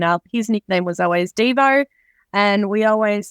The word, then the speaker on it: Devo: his nickname was always Devo and we always say it's a Devo as in whip it good lady the song not Devo as in do you'll be devastated